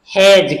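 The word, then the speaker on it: hedge: अब यहां पर लिखा हुआ है एच ई डी जी ई, अब इसको हेडज नहीं पढ़ेंगे, इसको क्या पढ़ेंगे? हैज, क्योंकि इसमें डी साइलेंट है और टॉम में बी साइलेंट है।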